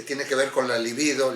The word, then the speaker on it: libido: que ver con la libido. Libido, decimos libido, no es líbido. Líbido quiere decir blanco. Mucha gente dice líbido, es libido, no lleva acento en la primera I.